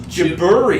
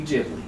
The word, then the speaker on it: Ghibli: No, you see the Japanese pronunciation is Gibbery. Gibbery. Gibbery So is if you, Gilby. no, yo. so if you translate that into English, it would be Ghibli.